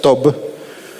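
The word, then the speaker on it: טוב: palabra bien que es una palabra en hebreo que se que se pronuncia tob que tiene un montón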